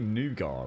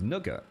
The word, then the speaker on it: nougat: Is it pronounced nougat or nugget? It's got to be nougat, right? Nougat, nougat, nougat. I swear my dad calls it nugget.